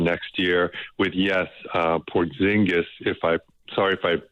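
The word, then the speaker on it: Porziņģis: Uh Porzingis if I sorry if I butchered that name. Yeah, it's Por it's Porz it's Porzki.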